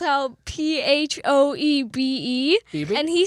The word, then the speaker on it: Phoebe: you know it's pronounced Phoebe.